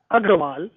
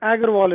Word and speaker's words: Agarwal: It's actually, in my mother tongue, it's pronounced Agarwal, but Agarwal is close enough.